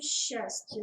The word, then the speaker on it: счастье: Какие звуки произносятся в слове «счастье» на месте каждой из 2 букв «с». Ну, здесь в первом случае «щ», во втором «с», причем нужно было отметить мягкость.